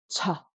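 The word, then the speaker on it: ཅ: Cha, cha.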